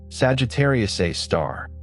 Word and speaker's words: Sagittarius A*: Sagittarius a star. The asterisk is conventionally pronounced a star and the unusual naming